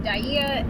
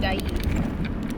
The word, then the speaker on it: Dyea: We've heard Pronounced Dyea and Dyea by the locals.